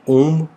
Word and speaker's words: ॐ: ओम शब्द 3 अक्षरों अ, उ, म जो कि स्वयं ब्रह्मा विष्णु महेश का प्रतिनिधित्व करते हैं से बना है।